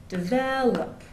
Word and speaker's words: develop: words like develop develop develop in American English the stress goes on the second syllable whereas in some other dialects for example in Indian English they'll often put the stress on the first syllable so they'll say develop